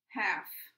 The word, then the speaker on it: half: spelling also is changed also I'd point out that this l and this l here too is silent so when you listen to the words maybe you'll be able to see that there are some there's a silent letter there okay half halves knife knives